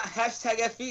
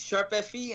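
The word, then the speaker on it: ♯FE: doesn't make sense to it's not hash Fe it's sharp Fe and it's pretty much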